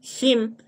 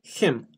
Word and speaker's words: him: a poner G escucharle dilo him es ahí him un poquito una e him Why should I hear